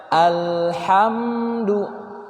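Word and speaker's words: الحمد: atau mengalir juga ti-tidak sehingga cara bacanya al-hamdu Jadi bukan alhamdu lillah tertahan kalau mengalir Alhamdulillah Ah iya bersifat meme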